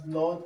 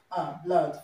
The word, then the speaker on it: blood: There are words that contain OO that we Nigerians pronounce O, okay? For example, blood, flood, okay? So, ordinarily, we pronounce this as blood and as flood, okay? So, the right pronunciation that we have here is the sound blood, flood, okay?